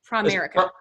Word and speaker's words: Primerica: But he is a VP at Primerica. Did I say that right? Primerica. Primerica, yeah. Yeah, Primerica. Let me pronounce it right.